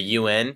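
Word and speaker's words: yuan: currency is called the renman b or the UN it's spelled Yu an but pronounced un like the organization so every US dollar is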